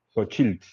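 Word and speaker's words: Xóchitl: Se pronuncia con S. Allá. Xochitl.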